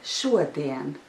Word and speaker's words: šodien: Labdien and šodien. However, there is another difference, because in the word labdien, the second syllable is stressed, but in the word šodien, the first syllable is stressed.